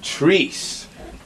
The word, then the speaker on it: Trice: This is the Sunday sit down, and this afternoon, across from me is sitting Trice. Correct? I pronounced that correctly?